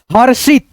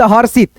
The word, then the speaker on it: हर्षित: जैसे यहां पे देखो द उसके बाद से रिफ की मात्रा का उच्चारण यहां पे द के बाद र आएगा दर्शक हर्षित हर शित हर्षित धनु उसके बाद से र